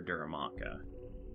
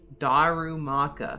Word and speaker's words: Darumaka: So at 10, I need to head over and look for Duramaka. Or Dermanitan, or... What? How are they pronounced? Darumaka.